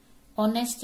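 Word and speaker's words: honest: अभी है ऑनेस्ट मैन, अब यहां पे आप देखोगे स्टार्ट तो एच से है लेकिन ये साइलेंट है, इसको हम बोलते हैं ऑनेस्ट मैन, तो यहां भी हम लगाएंगे एन, एन ऑनेस्ट मैन।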